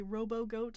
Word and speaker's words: Robo Goat: So we are at the point where it is a little bit Is it okay if you call me Robo Goat? Like RoboCop?